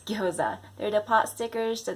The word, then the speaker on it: gyoza: So many people say gyoza, but it's gyoza.